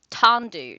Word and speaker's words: tendu: good good great uh okay T pronunciation tendu pronunciation tandu tandu tandu tandu I was close that's not too bad tandu to stretch the